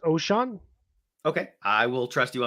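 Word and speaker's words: Ochaun: pick and that is ochon Mathis Edge out of Nebraska I believe it's actually pronounced ocean okay I will trust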